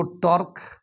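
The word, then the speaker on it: τ: अगर हम लोग टॉर्क निकालते हैं तो टॉर्क इज इक्वल टू क्या होता है, टॉ, इसको प्रोनाउंस करते हैं टॉ, force into perpendicular distance from the axis of rotation.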